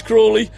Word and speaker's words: Crawley: Car. I called his name wrong. His mom's already texted me about getting his name wrong. It's Crawley.